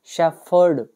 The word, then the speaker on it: shepherd: में बोलते हैं शेफर्ड पीएच का प्रोनाउंसिएशन होगा फ शेफर्ड सिंपल हो गया इसमें हमारा